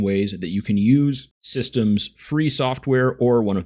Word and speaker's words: Systeme: And in French, it's pronounced more like Systeme, but I'm just going